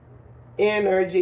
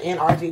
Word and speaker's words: energy: So I'm going to show you all how I take my energy. Yeah, that's how they say it. Some people be like, NRG. No, it's energy.